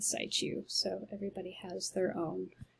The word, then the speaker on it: situ: in situ, which again, I've been saying situ, in situ, but I listened to an absolute expert on this for 4 hours and she said situ.